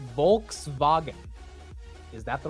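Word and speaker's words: Volkswagen: oh is it is it wait so it's Volks vagen is that the right way to say it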